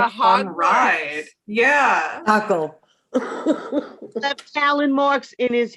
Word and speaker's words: Dackel: dackel.